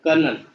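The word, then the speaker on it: colonel: कर्नल, कर्नल में आर नहीं होता है कहीं भी, आ रहा है समझ में, सी ओ एल ओ एन ई एल।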